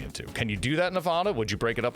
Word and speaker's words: Nevada: nevada nevada all right so the a is a long a of sorts yes and it does it comes from a spanish word for snow-capped mountains and so if you're pronouncing it the spanish way it would be nevada so that makes sense that's not how we pronounce it so nevada nevada all